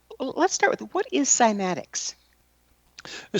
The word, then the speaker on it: cymatics: Um this is before I became uh interested in simatics.